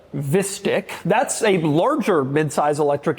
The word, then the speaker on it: Vistiq: There's also the Vistiq, so like Vista, but Vistiq.